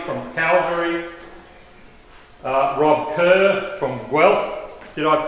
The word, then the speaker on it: Guelph: So you have four board members of ICLEI: Mark Bronston from Edmonton, Linda Harvey from Calgary, Rob Kerr from Guelph. Did I pronounce that right that time?